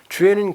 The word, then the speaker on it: 주애: 이름은 주애. 주애 맞아요. 주인 주자 사랑했자입니다. 그래서 로드먼이 발음 잘한 거죠.